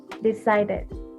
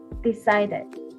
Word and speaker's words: decided: the verse have the stress on the second syllable like this decided decided okay so this is